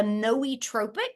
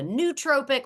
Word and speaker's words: nootropic: It's what's called a nootropic. Some people call it a nootropic or a nootropic or a nootropic. They're all acceptable pronunciations.